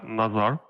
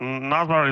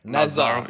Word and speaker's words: Nazar: It's actually Nazar. So, but Nazar is also okay. So I'm okay with that since when we are working with some American friends, American partners, they have different pronunciation problems.